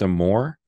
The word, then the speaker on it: Amour: Asia's uh website is is your last name pronounced a more okay that's that's French isn't is that your